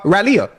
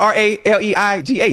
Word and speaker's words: Raleigh: That That's how you say it. How you say it again? You for real? But it's spelled R A L E I G H.